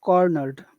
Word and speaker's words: cornered: get the emphasis coroner which which syllable has all of the emphasis the core core cor okay so that becomes very big here and and everything else